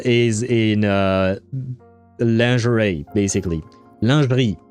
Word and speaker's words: lingerie: Lingerie. It's a French word. I'm going to pronounce it the French way.